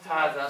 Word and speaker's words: هذا: Hada, so let's start with hada, okay?